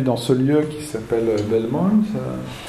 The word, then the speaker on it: Belmont: belmont qui est l'europe belmont se prononce à la française est à l'origine des principes une grosse action de bioéthique qui et c'est une un rapport produit dans ce lieu qui s'appelle belmont à la demande de